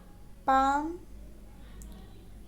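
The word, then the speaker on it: palm: fat fruit फैल forget पाम pair इसमें L silent है ओके प्राउड पैरेट परेट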